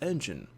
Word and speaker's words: N.G.E.N: northrop grumman elite nexus pronounced as engine such as the engine of an automobile comprising of a diverse